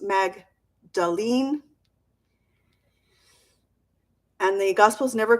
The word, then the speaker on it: Magdalene: heal and move on so her name is pronounced Magdalene and the gospels never call her specifically a